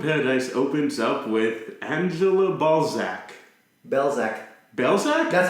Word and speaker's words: Balzac: Because they would say Berzac and I'm like Balzac.